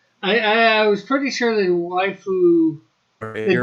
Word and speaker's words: waifu: It's a Japanese way of pronouncing the English word wife.